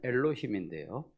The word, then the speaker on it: 엘로힘: 그리고 하나님, 원어에서는 엘로힘인데요.